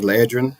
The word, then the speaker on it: Leedan: Um, my name is Leedan. Um, a lot of people don't know how to say it, but it's like the medicine eedrin but with a L.